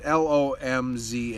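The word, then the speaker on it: Łomża: I can't pronounce it. It's Lomza, I'm pretty sure it was called, and I bought cases of it back in the day.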